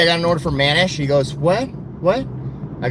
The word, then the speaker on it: Manish: It's spelled M A N I S H. Manish. Manish. That's it's how that's the name. Manish.